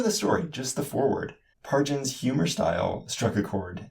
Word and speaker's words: Pargin: pronounced the same as the G in GIF.